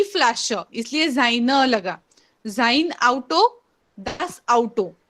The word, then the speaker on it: Auto: जाइन आउटो, ऑटो नहीं. भले ही वो इंग्लिश के जैसे ही हम लोग स्पेल तो कर रहे हैं, फिर भी आपका जो प्रोनाउंसिएशन होगा दैट विल बी आउटो.